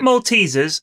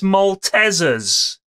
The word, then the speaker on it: Maltesers: shatter the glass but you're all pronouncing maltesers wrong it's not maltesers it's maltesers what Mrs was a